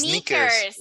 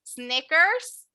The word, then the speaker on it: sneakers: No se dice Snickers como el chocolate.